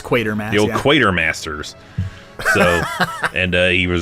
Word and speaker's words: Quatermass: I'm not sure how to say it. It's Quatermass.